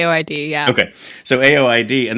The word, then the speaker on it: AOID: album gets released 2015 aoid D or is it pronounced or the initials I that's what I say aoid yeah okay so aoid